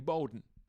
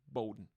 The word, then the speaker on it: Bowden: here from New Zealand, and Alex has a very, very, very funny bit about his last name being mispronounced as Bowden, because it's written the same name, but his last name is pronounced Bowden.